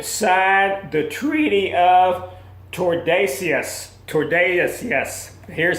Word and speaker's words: Tordesillas: Tordesillas. Here's how it's spelled.